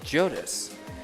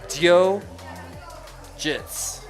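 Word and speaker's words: DioGTS: And he told me it's pronounced Jodis. And I went up to Joe and I was like, "Is this true?" And he said, "Technically, Dio GTS is pronounced Dio Jits.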